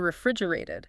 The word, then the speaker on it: refrigerated: In many parts of the world, eggs aren't refrigerated in stores. Exactly. And here's another pronunciation tip she gives. The word refrigerated. Ah, the middle T. Yeah. In American English, it often softens.